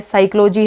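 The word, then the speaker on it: psychology: बन गया अब देखिए फ्रेंड्स जो साइलेंट पीस साइलेंट पे कहां पर होता है केडी है साइकोलॉजी है कॉलम ये तो इनमें तो एन ए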